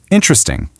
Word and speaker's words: interesting: Interesting is four heavy syllables. It's a total mouthful. But when we squish those middle letters together, it transforms into a really sleek three-cllable word. Interesting. You completely skip that sound in the middle.